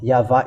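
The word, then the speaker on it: יהוה: YAHVAH is the true one. YAHVAH is false then because it's not in the Jews alphabet, ancient Jewish alphabet, if you may ask.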